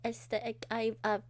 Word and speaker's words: aesthetic: You missed aesthetic. The stress on the first and third syllable.